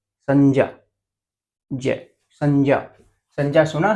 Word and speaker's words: संज्ञा: संज्ञा, जय, संज्ञा। संज्ञा सुना है नाम कभी? जैसे से, ये अनुस्वार है, इसके ऊपर आपको अनुस्वार दिख रहा होगा। संग, नाक से आवाज आ रही है अनुस्वार से।